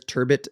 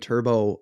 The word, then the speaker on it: turbot: up dude and there's turbot and turbo all over the place the majority people are pronouncing it Turbo French the French pronunciation of it is Turbo that to leave that